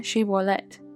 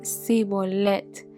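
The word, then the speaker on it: shibboleth: Ah, y vemos, ¿verdad?, de que los de Efraín no podían pronunciar la palabra Shibolet y ellos solamente podían pronunciar la palabra sibolet.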